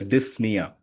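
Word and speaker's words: dyspnea: Dysnia is basically uh respiratory distress. Okay. This is pronounced as dysna. Okay. The p is silent.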